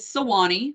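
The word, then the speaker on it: Suwannee: slide I want to point out the correct pronunciation that is Swani like way down upon the Swani River the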